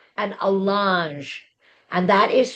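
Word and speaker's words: allonge: The piece of paper is called an alange and that is spelled A L L O N G E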